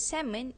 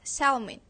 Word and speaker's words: salmon: Singaporean pronounced the word salmon as salon the letter L should be silent but Singaporean pronounce it anyway for Singaporean they find